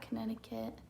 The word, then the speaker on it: Connecticut: I don't know anything about Connecticut. It's pronounced Connecticut.